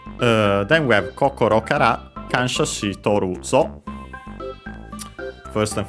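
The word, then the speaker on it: 感謝: And then we have kansha, a Chinese compound. So I think actually in this case, accent on the first syllable, and it is, so be careful.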